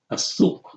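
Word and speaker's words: السوق: Asuk. Asuk. And we know we say Asuk because seen is a sun letter, right?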